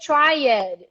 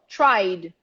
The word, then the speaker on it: tried: don't say study it you don't say try it you go from the vibration to the d the rule does not change so we're gonna go tried tried everybody repeat at